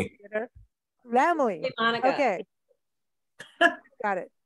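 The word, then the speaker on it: Laemmle: Hallee, help me with pronunciations. You know Lemley. This theater. Lemley.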